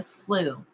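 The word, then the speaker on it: slough: forests the clan people called it the slew i believe that's how you pronounce it even though that is not what it looks like at all the elder said it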